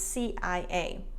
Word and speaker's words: CIA: noticed that, for example, in Spanish, they say CIA, but in English, it's CIA.